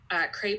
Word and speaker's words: CREP: know how it's pronounced it rhymes with grape its crepe I don't care it's